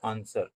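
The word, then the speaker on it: answer: Which is a silent letter in the word आंसर? आंसर में शब्द में एक मूक अक्षर यानी साइलेंट अक्षर कौन सा है? तो साइलेंट अक्षर आंसर में आपका डब्ल्यू।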